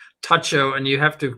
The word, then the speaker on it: Tucho: Tucho. And you have to pronounce that correctly. It's Tacho just like it's bugini.